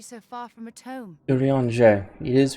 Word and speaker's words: Urianger: Urianger. It is right. Okay. That's how I pronounce his name.